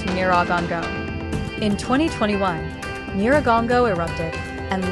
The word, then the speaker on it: Nyiragongo: And unlike Nyos, Kivu sits beside one of the most active volcanoes in Africa, Mount Nyiragongo, pronounced Nyiragongo.